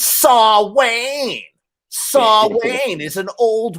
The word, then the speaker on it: Samhain: even know what they're talking about it's not samhain it's saw wayne saw wayne is an old word and that's how it's pronounced i mean read samhain but it's actually